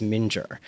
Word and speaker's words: Mingyur: I am 99.9% sure the correct pronunciation is Mingyur.